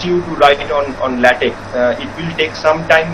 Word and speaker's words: LaTeX: some time into learning LaTeX. The word is LATEX, but do not pronounce it as latex, because latex is a substance that you mix with cement and whatnot, but it is pronounced as LaTeX.